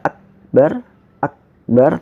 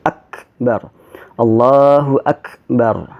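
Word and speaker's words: أكبر: pertama ya hai eh ketika kita mengucapkan acre di setelah allahuakbar allahuakbar ini khas nya itu suka dengan bacaan tajwid kita jadi Cafe itu ketika disukun dia dibaca kuat matinya tetapi kemudian dikeluarkan sedikit udaranya jadi aksen tidak semata-mata Akbar Akbar tetapi Akbar Allahu Akbar Ya Allahu Akbar itu yang pertama yang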